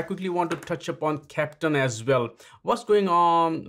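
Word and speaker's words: Keptn: Captain, for those people that don't know it, it's spelled K-E-P-T-N, and it's the German phonetic of a captain of a ship.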